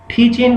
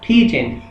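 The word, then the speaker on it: teaching: टीचिंग मतलब जी का sound नहीं दे रहा। अच्छा, इसका हरगिज मतलब ये नहीं है कि आप टीच इन लिखना शुरू कर दें, स्पेलिंग के अंदर लिखने में टीचिंग ही आएगा, लेकिन आपने प्रोनाउंस कैसे करना है, टीच इन।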